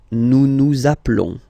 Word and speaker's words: nous appelons: Okay, nous appelons, and then little link would be perfect, so let's pronounce the whole thing again. Nous appelons, nous appelons. Okay, final S doesn't exist.